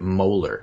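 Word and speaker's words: Mueller: on your list and he tweeted Rosenstein yeah picked Mohler mler after NES it's Robert Mohler that's how he pronounce this his name wow Rosenstein picked Mohler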